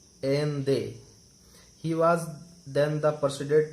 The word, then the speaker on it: Allende: These are some extract from the last speech of Salvador Allende, pronounced en they.